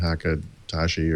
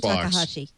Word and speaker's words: Takahashi: I always get this guy's name wrong. Dean Hakatashi or something. A former. No. This is the former Xbox guy who kind of writes about video gaming now. Said that the Xbox. Dean Takahashi.